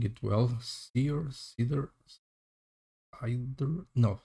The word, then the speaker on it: Seider: Seider? No, Seider. I think it's Seider. At least in the Norse language, I think that is how it is pronounced.